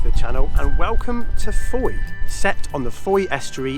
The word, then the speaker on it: Fowey: Pronounced Fowey to rhyme with joy and designated as an